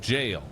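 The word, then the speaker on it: gaol: Goal is pronounced jail.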